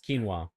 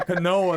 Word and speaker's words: quinoa: they're gonna have that other one, quinoa or something. Yeah, it would be like that, you know like what a I mean? quinoa, like Yeah. It's quinoa. Quinoa. He said a canoa.